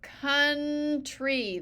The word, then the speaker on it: country: UR father of our country the C part is cou so here we could pronounce the our like ow here we don't say count we say country see but it's still